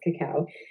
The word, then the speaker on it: cacao: list of ingredients and cacao which is what we call cocoa but it's correctly pronounced cacao which is the chocolate